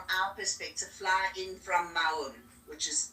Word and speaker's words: Maun: So Kidra, mostly guests from our perspective fly in from Maun, which is spelled M-A-U-N, and they would come normally from